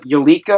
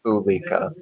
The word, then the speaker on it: Ulika: Central Pacific, it would be named Eureka or Eureka. I'm not entirely sure how the pronunciation is. Eureka, okay. If it forms east... It's not you, it's just Ulika.